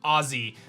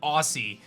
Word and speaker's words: Aussie: dm me and said make sure you pronounce it ozzy not aussie ozzy glider zoe i